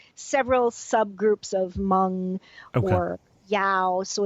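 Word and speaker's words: Dao: So the Yao are, and that's usually spelled D-A-O, although it may be Y-A-O or it may be Z. It's spelled various ways.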